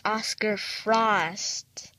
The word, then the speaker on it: Oscarfrost: I'm so sorry I pronounced your name wrong. It's Oscarfrost.